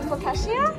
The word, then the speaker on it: focaccia: Is that how you pronounce how do you pronounce that bread? Yeah, I'm asking the wrong person. Focaccia?